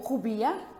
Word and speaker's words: rupia: A rupia, ou rubia, como era pronunciada localmente, era paga em vez de ouro.